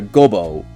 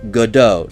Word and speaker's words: Godot: Gobo is godo, not gobo. That's That's clever. That's clever writing. It's not gobo.